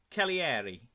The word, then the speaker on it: Cagliari: Then, the special thanks to FM22 for telling me how to pronounce this team's name. It's Cagliari.